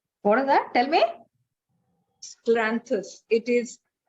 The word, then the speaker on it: Scleranthus: Scleranthus. It is Spell it.